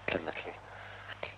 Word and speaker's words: Llanelli: I got the pronunciation. Yes, double L. Llanelli.